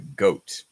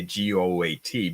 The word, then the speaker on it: GOAT: We pronounce this as GOAT. We don't say GOAT because it's just simpler.